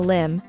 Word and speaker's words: limb: climb out on a limb you're unable to get down and the farther you go the more dangerous it becomes note that the B is silent which means we wouldn't pronounce the letter Lim in figurative